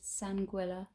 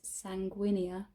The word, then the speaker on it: sanguinea: sanguila sorry you guys it's not pronounced nepenthes sanguila it's pronounced nepenthes sanguinea i'm just thinking of sangria so i'm sorry which